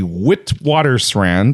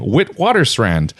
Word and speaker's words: Witwatersrand: a single mine Charlie's nose it is actually Witwatersrand I definitely pronounce it again Witwatersrand Witwatersrand in south africa hmm so nearly half